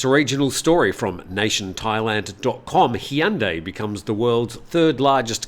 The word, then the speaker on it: Hyundai: Hyundai becomes the world's third largest car maker. Now, I'm much more confident with my pronunciation of Hyundai because when I was working